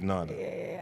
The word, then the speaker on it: Nada: Am I pronouncing it right? Yeah. No. It is Nada.